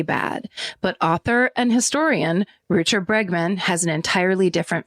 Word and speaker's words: Rutger: Even though his name is spelled Rutger, I watch people pronounce it Rutger.